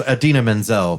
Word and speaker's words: Idina Menzel: Adele desim oh yeah so wickedly talented that's Idina Menzel but that's when when John Travolta tried to